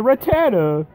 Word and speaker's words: Rattata: dad gym area remember if I had a rat-a-tat-tat I or whatever I know I misheard pronounce it you went on purpose that's it's a Rattata feed ram luckily these